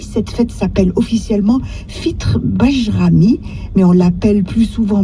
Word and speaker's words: Bajram: Le terme Bajram est issu du mot turc Bayram et se prononce en français comme lui.